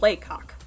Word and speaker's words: Lacock: __ ] you not the town is called laycock it's spelt like lacock i love the town